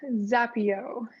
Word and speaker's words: Zappyo: all the blending and everything in ottawa so zapio do i have that pronounced right you do i love it it's